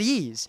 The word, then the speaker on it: Ys: or video game and the title is spelled Ys it's ease but when I got to college someone said I think it was katsu he said ease he said I think he said ISU yeah but the thing is he said it right Y and my brain immediately made this calculation wow I'll bet I was saying that wrong he said it before